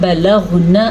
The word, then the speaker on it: بَلَغْنَ: Start کرتے ہیں۔ بسم اللہ الرحمن الرحیم۔ فَإِذَا بَلَغْنَ أَجَلَهُنَّ، فَإِذَا الف مدہ، بعض لوگ پڑھتے ہیں فَإِذَا، نہیں، فَإِذَا بَلَغْنَ، غین کے تلفظ کا آپ نے خاص خیال رکھنا ہے